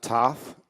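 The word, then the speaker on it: Thoth: Uh, Toth and the Emerald Tablets exist. Yes, they do. And it's pronounced tote.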